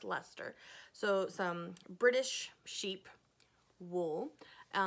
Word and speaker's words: Leicester: like castor but and I was informed it's pronounced Lester so some British sheep